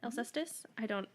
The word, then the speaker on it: Alcestis: Greek lettering, one word, Alcestis. Does that sound right? Alcestis? I can't do. That is, yeah, that's how they say it.